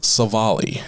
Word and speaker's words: Civale: further ado we have aaron savali in case you guys didn't know how to say his name i'm saying that correctly right that's correct okay aaron's divali so